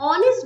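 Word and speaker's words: honest: अब इस ऑनेस्ट word में एच लिखा है जो कि कॉन्सोनेंट है, बट ये एच साइलेंट होता है और ये वर्ड स्टार्ट होता है ऑ, और ऑ किसका साउंड है?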